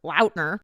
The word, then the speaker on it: Lautner: into Fame like Taylor Lautner Lautner you know the peoples just started saying launder and he's like in